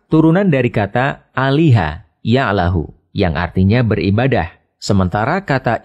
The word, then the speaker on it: Allah: lam yang dites dites lalu lam yang kedua dibaca tebal sehingga dibaca Allah demikian pendapat ahli bahasa